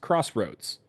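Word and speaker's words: X-Roads: also xroads Warriors and xroads is pronounced Crossroads yeah but is actually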